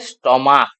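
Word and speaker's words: stomach: স্টমাক। স্টমাক। এটা দেখ লাস্টে ক উচ্চারণ আসছে।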